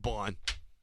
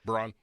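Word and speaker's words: Baun: from where New Orleans Braun I thought it was Bon I think it's Bon I bet yeah Google it it's Bon I thought it was B how do you spell it b a u n there's no R I lost crap they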